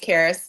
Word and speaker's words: Caris: It's pronounced Caris.